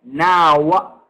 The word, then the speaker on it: know: Okay, yeah, you don't pronounce the K.